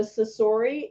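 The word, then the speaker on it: Cosori: It's the Sasori. It's spelled C-O-S-O-R-I. SORI.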